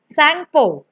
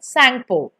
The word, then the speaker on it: Tsangpo: Over there it is named as Tsangpo, Tsangpo. T is silent, Tsangpo.